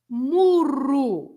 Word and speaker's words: murro: Murro, as it is on the screen now, is a punch. Yes. And if you say muro, is a small wall in your garden, right? Muro. Wow. Yes. So that's a difference in meaning as well, if you roll or if you don't roll the R, right?